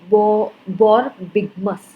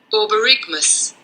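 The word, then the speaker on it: borborygmus: इसका प्रोनाउंसिएशन सो बॉरबिगमस। एक बार फिर से सुनेंगे। बॉरबिगमस।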